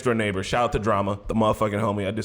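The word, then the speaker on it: Jrama: past for the homie Drama, that's Drama with a J. Fucks with him. What? But What? Drama with the J. J-R-A-M-A. But you pronounce it drama.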